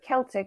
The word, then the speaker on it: Celtic: Yes, the Celts or the Your Celts, Celtic tribes. Yes. whichever way you prefer to pronounce it. Yes, so Celtic or Celtic tribes, which Seven mentioned, the three different, so the Britons, the Gauls, and the Belgae.